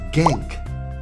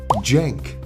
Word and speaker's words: Cenk: refer to him as gank the dude's name is Jank and it's spelled sank gank just sounds more